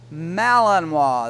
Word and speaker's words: Malinois: Malinois, that's how it's pronounced.